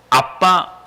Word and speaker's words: 아빠: 아빠 아버지라 부르는 거예요. 여기서 번역이 아바로 되어 있지만 실제 발음은요 아빠입니다. 그러니까 유대인의 애들이 아빠 이렇게 발음해요.